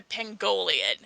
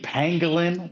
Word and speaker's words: pangolin: Okay, I want you guys to imagine this, like, big dog mixed with a pangolian, you know? Oh no! I'm sorry. Mongolian. You mean pangolin?